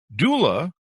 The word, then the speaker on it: doula: career as a preschool teach director a birth Doula not sure I got that pronounced right you did pronounce that right did